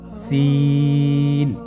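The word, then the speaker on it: سين: সিন হরফটি বারিক হরফ পাতলা করে উচ্চারণ করতে হবে। তাহলে আমার সাথে বলুন সিন।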